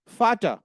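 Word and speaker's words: Vater: और राइट फाऊ फाऊ जो letter we है जर्मन का वो एफ की तरह काम करता है। ध्यान रखना है। फाऊ फाऊ फाऊ एग्जांपल फाटा फाटा मींस फादर फाटा फाटा फाटा मींस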